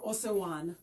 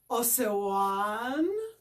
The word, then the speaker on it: Osewan: fundraising project called Turn the Water On for Osewan. Osewan is a place in southern Kenya. So first of all, I'm going to also teach you how to pronounce it. This is how it looks. Osewan.